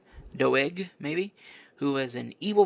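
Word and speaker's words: Doeg: Said it could have been Dug, that's how you pronounce his name. Doe, maybe who was an evil, violent man.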